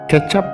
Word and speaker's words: ketchup: 2021 di situs historia.id kecap adalah sebutan dalam bahasa Inggris untuk saus tomat diucapkannya seperti kecap dalam bahasa Indonesia di Asia kecap merujuk